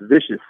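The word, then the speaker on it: VICIS: I don't want to sit here, but it's spelled V-I-C-I-S. I think it might be pronounced vicious, but it's called the 01.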